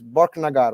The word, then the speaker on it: Borknagar: the correct position is borknagar right yes okay okay you push the first syllable okay okay um